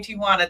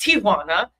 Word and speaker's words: Ti'Juana: It's really pronounced Tijuana. Tijuana. If you're from the Spanish culture, but Americans say Tijuana.